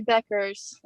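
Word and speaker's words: Bueckers: I say Beckers.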